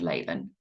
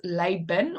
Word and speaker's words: Laban: So the B sound can be pronounced Laban or Laban. It's interchangeable in Hebrew, so that's why you keep seeing Laban, right? But the V and the B is interchangeable in Hebrew.